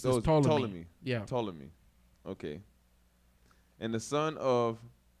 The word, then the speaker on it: Ptolemy: you don't when you when it comes to ptolemy you don't pronounce the p it's the total of me yeah ptolemy okay and the son